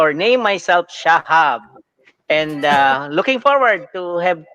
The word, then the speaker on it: Shahab: It's pronounced as Shahab. In the Middle East, Spell, there's no spell. Y, there's no I. There's only in the H is sounds like alike to one another. H, I, and Y, and you have to spell it S, H, and you have to insert lem Shahab H, A, B. So Shahab. That's the proper Shahab.